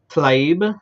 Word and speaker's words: Tlaib: Rashida, I think it's Tlaib. I think Talib. Tlaib. I think. Forgiveness for mispronouncing because I most of the time do.